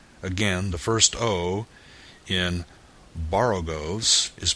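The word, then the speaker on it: borogoves: rhyme with groves again the first Oh in Baro goes is pronounced like the O in Baro I have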